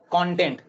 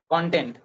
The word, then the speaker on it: content: We have to one way we have to say content, or second one is content.